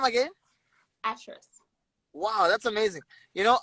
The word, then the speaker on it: Ashrus: on just hold on say my name again actress wow that's amazing you know um i don't